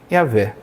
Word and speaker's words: Yahweh: nome que se pronuncia, porque o nome original só tem constantes, não tem vogais. Elas se perderam ao longo do tempo. Então a pronúncia ainda não se sabe exato, mas creio que se chega perto de Yahvé.